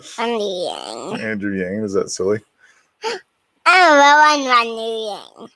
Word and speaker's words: Andrew Yang: His name's Andrew Yang. Right. Andy Yang. Andrew Yang.